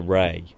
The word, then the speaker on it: Rea: Speaking of places you can't get to, I'm having great difficulty finding this alleged river, the River Ray. Actually, you don't spell it like that.